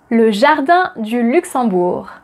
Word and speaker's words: le jardin du Luxembourg: Number 5, le jardin du Luxembourg. Le jardin du Luxembourg. Le jardin du Luxembourg. Can you repeat it? Le jardin de Luxembourg. Luxembourg. Le jardin de Luxembourg. Le jardin du Luxembourg.